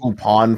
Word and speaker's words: Lupin: third first time Horizon they're pronounced well they're sort of pronounce the same it's pronounced upon for Lupine the third but it's a tomato tomato kind of thing yeah because it's a French pronunciation yeah and it's spelled